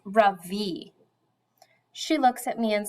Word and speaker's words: Ravi: Beam, I said softly, my voice quivering a little, my name is not Ravi. It's pronounced Ravi.